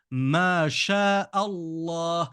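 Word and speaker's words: ما شاء الله: ma sha Allah mais quand je lis correctement en arabe je dis mas Allah la première lettre du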